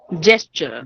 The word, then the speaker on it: gesture: Gesture. Gesture. Yes, it is gesture, not the other way around. Gesture. No, I mean, G is to be pronounced as ja.